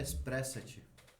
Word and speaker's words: Espressate: Expressat. @expressate. O- Depois eu mando os royalties, tá? De utilização. A pronúncia certa é Espressate.